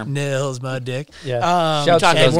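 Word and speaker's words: Mindnich: Because I'd gone up once with Nils Minnick and Garrett Warnick. Nils Muddick is actually how it's pronounced. Nils Muddick.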